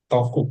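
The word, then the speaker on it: とく: Terus yang bawahnya ya, dalam percakapan sehari-hari, teoku ini sering diucapkan dengan istilah toku ya. Toku. Teoku menjadi toku.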